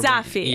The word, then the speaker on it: Safi: Is it Safi or Safi? I feel like I'm Safi. Pronouncing it wrong. Safi. You are Safi.